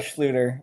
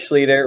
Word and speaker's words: Schlueter: Looks like Schlueter, but it is Schlueter. Rhymes with eater, leader, meter, feeder, all those fun things.